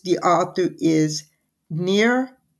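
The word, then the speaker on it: Nir: simply called hooked and it's the author is near eall very H odd name but that is supposedly the pronunciation it's n i pronounced near and last name is e y a l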